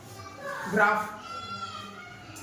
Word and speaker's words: graph: तो देखना लास्ट में पीएच, GRAPH, ग्राफ। क्या है ये? ग्राफ। लास्ट में है pH, ending letter. Ending letter क्या है? पीएच। उसकी साउंड क्या निकल रहा है? फ।